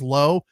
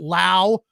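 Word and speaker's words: Lowe: one pronounces it Lao come on it's low L we is low if you want your name to be Lao it's l auau right it's not L we it's low and low it's always low can't stand why people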